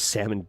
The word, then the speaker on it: salmon: I just realized that your name was Salmon or Salmon. Salmon tender. Wait, do you guys do the uh do you pronounce the L? Salomon. Salmon. salmon. Like I think I say salmon.